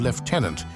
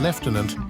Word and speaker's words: lieutenant: how it evolved into the distinct pronunciations of lieutenant in American English and Leftenant in British English.